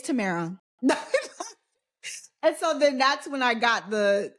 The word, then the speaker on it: Tamara: staff and if she said my name wrong he would be like it's Tamara and so then that's